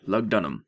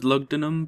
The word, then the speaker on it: Lugdunum: Okay, Lugdunum. There you are. That's how you say it. I thought it was Lugdunum, but eh.